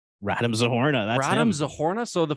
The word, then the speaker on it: Radim Zohorna: wanted to talk about this how do you pronounce his name random zohorna random zohorna that's Adam zahorna so the Flames uh making